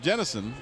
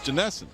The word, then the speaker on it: Janessen: I said we've been pronouncing Jennison, and he said it's Janessen.